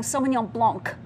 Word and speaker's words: Sauvignon Blanc: That's pretty even, actually. And the only mistake we tend to make with this one is saying Sauvignon Blanc. You don't have to pronounce that last C.